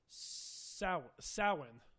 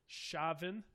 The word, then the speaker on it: Samhain: The standard Irish pronunciation is Samhain. Okay. With the ow as in cow. Other pronunciations that follow with many Gaelic dialects include Samhain, Shavin, and Soin.